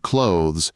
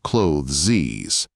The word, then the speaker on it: clothes: the German also, and in overcoming the thorny ending of the word clothes, he invariably added a superfluous sibilant syllable, clothes, as if skidding after having cleared an obstacle.